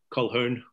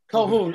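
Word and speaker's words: Colquhoun: and joe cole who i never pronounced his last name how would you say call hern cohoon okay joe i think what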